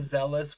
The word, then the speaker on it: F'Zealous: in we're locked wanders the zealous Wanderers the f is silent lock all right go